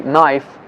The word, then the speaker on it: knife: b letter but this b letter is not pronounced bomb we say bomb and and say knife and but in spelling you got to write